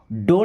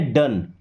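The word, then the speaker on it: done: अभी देखिए अब इसको डोंट नहीं पढ़ना है। क्या पढ़ेंगे? डन। क्या पढ़ेंगे? डन। जैसे ओ एन को क्या पढ़ते हैं? वन।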